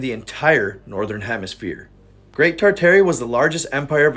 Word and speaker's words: Tartaria: Tartaria, originally pronounced Titaria without the R, is the name of an empire that was here before the Mongols and originated in Northern Asia.